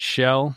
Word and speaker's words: Shell: Just how it's spelt, just the way I said it, Shell.